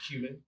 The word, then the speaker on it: cumin: cumin is great cumin oh spelled like but it's cumin cumin okay